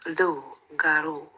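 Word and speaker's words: loup-garou: spelled Loop garu but it's pronounced L garu it's so prevalent with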